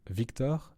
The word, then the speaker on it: victor: At the start of the word victor, victor in Latin, the V is pronounced as V.